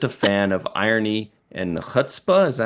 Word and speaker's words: chutzpah: And I'm just a fan of irony and chutzpah. Is that how you pronounce that?